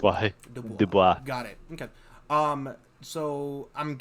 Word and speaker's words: Dubois: Dubois. Okay. The S is silent when you say it. It's why. Dubois.